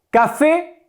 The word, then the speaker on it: café: Café, ocurre lo mismo que con sofá, la sílaba tónica es la última, es una aguda.